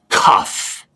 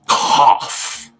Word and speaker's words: cough: you're very close it's it's not cuff it's cough so what does o-u-g-h